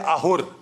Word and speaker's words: Ahur: In Iranian, in Persian, you don't pronounce the S, you pronounce it as H. When we say Soma, they say Homa. When we say Dasa, they say Daha. Right? And when we say Asur, they say Ahur.